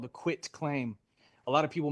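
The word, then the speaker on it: quitclaim: It's called the quit claim. A lot of people mispronounce this. They say quick claim.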